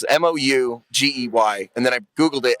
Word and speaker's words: Mougey: And so I Googled how to pronounce it, Mougey, and then I Googled it, and it just said it's like Moo, Gee.